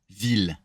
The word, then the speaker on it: ville: This one pronounce it like a hard L.